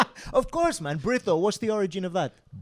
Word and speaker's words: Brito: Breto. What's the origin of that? Breu. Brrito.